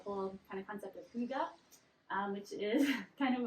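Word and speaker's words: hygge: weird uh not a not a lot of you I guess know how to pronounce it because people come in and chat about it a lot but it's h y g g e um but it's a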